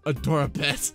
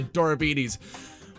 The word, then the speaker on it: Adorabilities: I mean, you know, when I first sent the audition file to Magpiepony, I mispronounced Adorabilities when I said Adorabet. It's supposed to be Adorabilities.